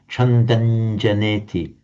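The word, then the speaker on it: chandaṁ janeti: It would be pronounced Chandanjaneti.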